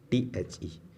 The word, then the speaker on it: the: pronunciation of the or the the word the. Sometimes what happened that we call it the and sometimes we call it the.